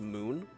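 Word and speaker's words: Mün: Uh but interesting thing that I learned this little screen with the the moon or bust with a little umlout over the U which would make it be pronounced moon.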